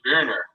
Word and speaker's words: Boehner: It should be Boehner. That's so that's sort of O-N-D. So you say Boehner or Boner, depending on how you pronounce it, and that's sort of true. Of course, if you said Boehner, like everybody would be like, what? And it doesn't really translate well on AM radio. Yeah. Germanic pronunciation.